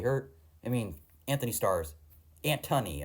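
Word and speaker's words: Antony: I mean Anthony Stars antthony I think is how it's actually pronounced not Anthony but his performance is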